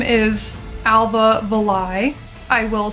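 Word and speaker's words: Alva Valai: so her name is Alba villai I will say uh I heard Chris Wilson say Alba villai and that kind of rhymes with the last to Die the LIE La Dai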